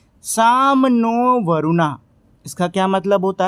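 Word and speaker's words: शं नो वरुणः: Indian navy contains the motto साम नो वरुणः pronounce साम नो वरुणः which means B ऑस्पी शियस टू अस ओ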